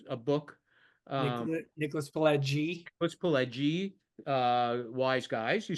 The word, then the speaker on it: Pileggi: Nicholas Pileggi, Wise Guys.